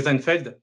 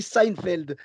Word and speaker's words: Seinfeld: est ce parce que ça s'écrit avec un s et y en a qui le prononce comme si c'était un z tu vois je sais